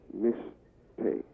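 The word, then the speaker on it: משתה: It's pronounced mishteh. Spelled in Hebrew, mem, sheen, tav, Hay.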